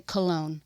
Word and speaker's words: Colon: It's spelled C O L O N. How would you pronounce that? Colon. Colon. But he made us say cologne.